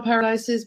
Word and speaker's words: Paradise: just one L and my last name paradise just the way it sounds PA ra di SC